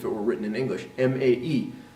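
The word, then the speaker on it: まえ: were written in English, M-A-E. So it's really not mai, it's mae. It just sounds like mai when we say it fast using our English pronunciation.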